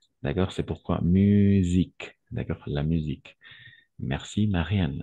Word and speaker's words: musique: Attention, le S entre deux voyelles, on va prononcer comme un Z. D'accord? C'est pourquoi musique.